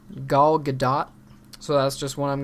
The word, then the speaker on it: Gal Gadot: And then we have Wonder Woman, starring, I think it's pronounced Gal Gadot, so that's just what I'm going to say.